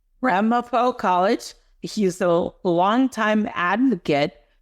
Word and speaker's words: Ramapo: He is a PhD professor emeritus uh of finance at Ramapo College. Is that how you say it? You got it spot on, Malcolm. Ramapo College.